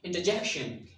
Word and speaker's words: interjection: And the last one is stress will be on the j sound. Interjection.